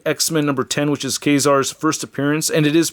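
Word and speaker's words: Ka-Zar: I just did recently read X-Men number 10, which is Kazar's first appearance, and it is pronounced Kazar.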